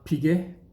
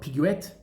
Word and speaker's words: Piguet: They don't say the S at the end of Audemars, they don't say the T at the end of Piguet, it's not Piguet, as I've heard many times.